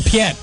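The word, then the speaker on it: Piett: well that's uh admirable am I gonna pronounce the wrong Piet Admiral Piet that's right because he's in Star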